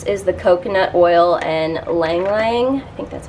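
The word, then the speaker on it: ylang-ylang: This is the coconut oil and Lang Lang. I think that's how you say it. It's got the Y. It's like Ylang Ylang, but I think it's Lang Lang, I'm pretty sure.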